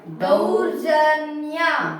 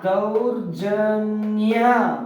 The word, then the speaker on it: ದೌರ್ಜನ್ಯ: thou ಅರ್ ಅರ್ ಜ ನೋಡಿ ಅರ್ಕ ವತ್ತ ಇದ್ದಾಗ ಮೊದಲು ಅರ್ಕವತ್ತ ಉಚ್ಚಾರ ಮಾಡಬೇಕು ಅರ್ ಜ ಞ ನ ಗೆ ಯ ಒತ್ತು ನ್ಯ ದೌರ್ಜನ್ಯ ದೌರ್ಜನ್ಯ ವೆರಿ ಗುಡ್ ನೀವು ಓದಿ